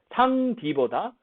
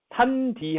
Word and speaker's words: 산디: 그러니까 상디보다 산디 하면 훨씬 더 발음이 수월하게 넘어간다는 거죠.